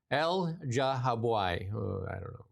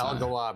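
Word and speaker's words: Elghawaby: Toronto Star columnist Amira El-Jahaboui. I don't know. El-Gawabi, I would say. El-Gawabi. Because usually the GH is not, it's not a soft G. It's usually a hard G.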